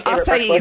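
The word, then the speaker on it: açaí: Yeah, acai, that's how you say it.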